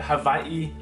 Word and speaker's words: Hawaii: Or as locals say it, Hawaii.